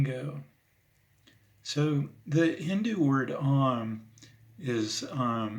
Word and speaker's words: Om: So the Hindu word Om is it's spelled O-M, but it's pronounced or like with three syllables, and those three syllables actually symbolize four different things.